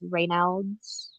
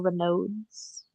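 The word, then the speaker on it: Raynaud's: Um I if anyone's familiar with reods or renodes depending on how people pronounce it um I just have horrible circulation.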